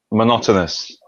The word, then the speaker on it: monotonous: which is uh, mono- monotonous. So same thing every day. It's Monoto monotonous. mono mon monotonous. Monotonous. Monotonous. So Monotonous. It's a good word. okay, monotonous. So stress is on no no Monotonous.